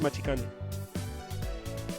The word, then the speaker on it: Matikane: Sometimes written as Matikane, but pronounced Machikane.